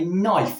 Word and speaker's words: knife: So for example, why do we say that we butter our toast with a knife even though it's spelt with a K?